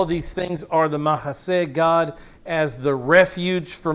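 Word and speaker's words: mahseh: the refuge itself it's mahase m-a-h-s-e-h and it's pronounced mahasay and we're gonna run into this word in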